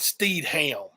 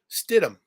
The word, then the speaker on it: Stidham: yeah for that area you know the h is silent you don't call it ham it ain't steed ham